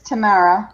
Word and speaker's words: Tamara: It's Tamara because there's no O. Tamara. Tamara. Tamara. Yeah, like the Yeah, one right? person. Tia and Tamara Mowry.